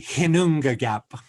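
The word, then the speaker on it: Ginnungagap: Northern Buddhists, and the Icelandic Jinnu It's actually Hinungagap.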